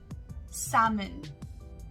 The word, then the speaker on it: salmon: your brain almond coming to a similar word salmon our fourth word is salmon salmon is spelled as s-a-l-m-o-n but instead of saying salmon